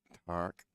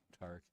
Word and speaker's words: Tarek: Tarek. Tark. Yeah, he told me how to remember how Jerry Bryseth remembered was car wreck.